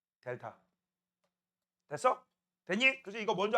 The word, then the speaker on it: 델타: 온도 변화는 앞에다가 이렇게 삼각형 그리고 읽을 때 뭐라고 읽어? 델타.